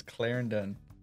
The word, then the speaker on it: Clarendon: named Clarendon Arkansas and that is how you say it so if you're thinking back at home how to say that it is Clarendon actually have a funny